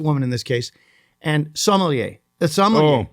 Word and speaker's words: sommelier: And sommelier. The sommelier. Oh. First syllable is the sommelier. yeah, it's the accent.